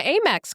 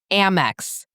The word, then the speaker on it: Amex: five pickups, they're like, it's not pronounced Amex. It's Ammex. Like Amber AMX.